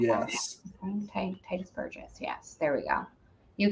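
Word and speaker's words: Tituss Burgess: Is that how you pronounce Yes. that? Titus Burgess.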